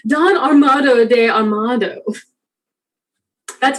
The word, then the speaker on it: Armado: I did converse with Quodam Day, with a companion of the king's who is a thing, nominated or called Don Armado de Armado.